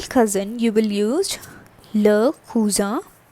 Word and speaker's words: cousin: For the male cousin, you will use le cousin. That is same in English, but the pronunciation is cousin.